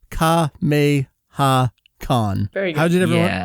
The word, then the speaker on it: Kameha-con: it very slowly because if you say it fast you you end up saying a dub way and so I'm going to say kha may ha Khan how did everyone say